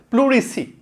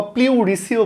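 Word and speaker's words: pleurisy: কারণ নিয়ে আলোচনা করব যার উচ্চারণ হচ্ছে প্লুরিসি এটার উচ্চারণ হচ্ছে প্লুরিসি অথবা প্লিউরিসিও বলতে পারো তোমরা প্লুরিসি বা প্লুরিসি কি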